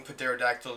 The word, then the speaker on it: pterodactyl: any time and yes I am saying Patera tactile before they come through I know the P is silent I hope so I